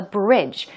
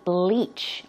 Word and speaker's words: bleach: a lot of but he'd say which sounds like a bridge BR idge that is not the word we're talking about the correct pronunciation should be bleach bleach which means to